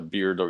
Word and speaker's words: beardo: Seems pretty obvious, but yeah, a beardo is of course somebody with a beard. However, this word beardo rhymes with weirdo.